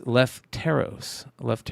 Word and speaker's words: Lefteros: So we'll continue to make fun of them for being French Canadian, but we will say his name correctly. It is Lefteros.